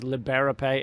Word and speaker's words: Liberapay: that out real quick it's liberape l-i-b-e-r-a-p-a-y dot com lee camp like liberate pay but without the t right um they're french